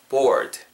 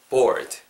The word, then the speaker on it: board: 때이 느낌으로 느낌 어 주시면 좋을 것 같아요 board 약간 드 이러면서 끝나는 거죠 이디 발음 따라해 보세요 듣고 board board 그렇죠 아시겠죠요 느낌까지 잘 살려 가셨으면 좋겠습니다